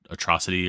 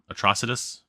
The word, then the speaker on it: Atrocitus: Because I always call it atrocity or something like that, but atrocitus.